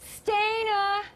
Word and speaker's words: Stana: You pronounced it awesome, and Stana, thank you so much.